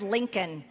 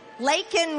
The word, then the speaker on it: Laken: He mispronounced it, didn't even say it right. He said Lincoln. Her name is Laken Riley.